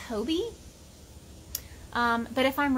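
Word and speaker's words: Hobbii: real quick um i guess i have been pronouncing hobby yarn wrong i said hobby like as in hobby h-o-b-b-y because it's like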